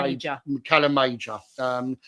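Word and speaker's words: Calamajor: So, Mior is spelled M A. Calam Major.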